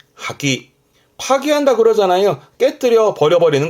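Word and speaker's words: 破棄: 발음은 하기. 하기 파기한다 그러잖아요.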